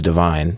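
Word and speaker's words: Devyne: pick the name Vine my name is divine okay it's spelled weird it's d e v y n e i just chopped it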